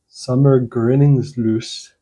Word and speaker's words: Sommargryningsljus: I think it's pronounced Sommargryningsljus, something like that. It's a Swedish word.